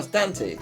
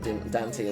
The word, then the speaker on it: Dante: brain was just like oh danty obviously it's danty um but his name has an e at the end um but yeah it's it's fine um I will almost certainly pronounce him Baron dantey at some point because childhood brain locked in for all eternity